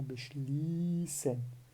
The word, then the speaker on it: beschließen: Então, isso torna a pronúncia da vogal bem longa, tá?